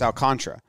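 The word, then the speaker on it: Alcántara: bit because he's nasty all khan tara but that's what baseball reverend says but then other people say it's alcantara alcantara makes a lot of sense because that's how it's spelled well construct is not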